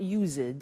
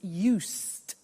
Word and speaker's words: used to: Look at the spelling. It's U-S-E-D and then T-O. But the pronunciation is not used, it's used. Unusual.